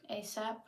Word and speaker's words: ASAP: ASAP.